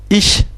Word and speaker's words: ich: Ça se prononce ch comme ich dans le pronom je, et ça se prononce